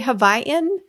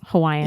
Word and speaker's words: Hawaiian: Hawaii do you say havaian like how do you say I don't know why we don't say Hawaiian but it's it's I've never heard anyone say havaian it's Hawaiian yeah just Hawaiian I don't know well